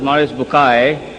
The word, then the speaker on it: Maurice Bucaille: Maurice Bucaille, pronounced as Maurice Bucaille. Am I right, doctor? Doesn't matter.